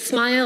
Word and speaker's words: SMIL: been around for the longest time one is smile or SMI l I don't know why it's pronounced smile because there's no II but whatever its kind